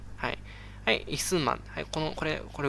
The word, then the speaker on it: 李承晩: 名前なんて言うかっていうと憩ます李承晩って言うんですね李承晩ただまぁ